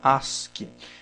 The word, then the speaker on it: ASCII: o código as que se escreve a sc e já se fala se pronuncia ask esse código aqui ele